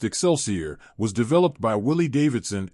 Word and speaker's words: XLCR: said that the Harley-Davidson xlcr Cafe Racer pronounced exceler was developed by Willie